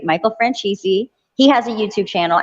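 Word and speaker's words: Franzese: who's the other guy michael francisi right michael francisi he has a youtube channel and he's like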